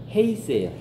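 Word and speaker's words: εἷς: 이제 근데 안에서는요, 그 헬라어로 에이스예요. 에이스. 좀 써보실래요? 에이스. 그리고 하나 되어는 헤이스예요. 헤이스. 헤이스. 그래서 약간 에이스, 헤이스를 발음이 비슷하죠. 약간 강하게 읽으면 헤이스가 돼요.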